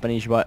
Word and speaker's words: Spanshwa: Yes, it is pronounced Spanishiwa, even though his name spells Spanshwa.